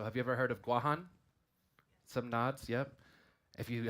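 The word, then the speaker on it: Guåhan: Marianas Islands so have you ever heard of guahan some nods yep if you haven't heard of guahan have you heard of Guam okay Guam is a mispronunciation of guajan right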